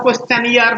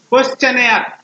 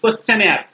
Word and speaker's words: questionnaire: অনেক আমাদের ভাই বোনরা উচ্চারণটাও কোয়েশ্চেনিয়ার বলে, একদম নয়, কোয়েশ্চেনার, কোয়েশ্চেনার মানে NAIRE, questionnaire, not year, it's not year.